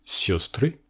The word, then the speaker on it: сёстры: On a d'un côté siostry, qui veut dire sœur, au pluriel. Dans ce mot, l'accent est sur le yo.